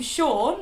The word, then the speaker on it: Sean: across are the name Sean, which can be spelled like this. Or this. Or even this. Which is confusing, but just know that they're all pronounced Sean.